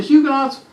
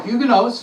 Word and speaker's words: Huguenots: the hugoons so they the huguenots or huguenotes depending how you want to pronounce it we're always trying